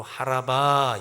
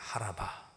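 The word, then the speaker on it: חָרָבָה: 여기 마른 땅이라고 하는 단어 바다를 마치 마른 땅과 같이 육지 같이 건넜다고 했습니다.이 마른 땅이라고 하는 단어 예, 히브리 원어로 하라바 이렇게 발음합니다. 하라바.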